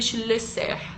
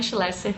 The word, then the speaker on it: Schlesser: Para quem não segue ainda lá no Instagram, como pronunciar meu sobrenome? Schlesser. É Schlesser, abrasileirando, tá?